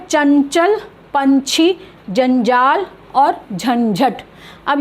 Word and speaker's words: चंचल: तो इसका उच्चारण इस तरह से करना है। जब हम इसको लिखेंगे तो ऐसे लिखेंगे, अगर हम अनुस्वार नहीं लगा रहे हैं तो ऐसे लिखेंगे, चन चल, आधा य, ठीक है, चंचल।